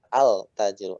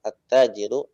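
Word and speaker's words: التاجر: aljannatu kalian huruf Syamsiah di idghomkan attajiru nggak dibaca Al takjil attajiru asal Bu dan ke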